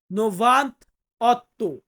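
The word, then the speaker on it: novantotto: Italian ভাষাতে কি বলবো নোভান্ত অত 98 এটা কিন্তু নোভান্তা হবে না ভাই এটা হবে নোভান্ত আকারটা বাদ যাবে আকারটা বাদ যাবে নোভান্ত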